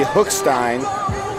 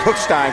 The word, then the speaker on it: Hookstein: little tidbit here, but I've been pronouncing Landon's last name wrong. It should be Hookstein. So I apologize for that. I'm going to go with Hookstein from here on out.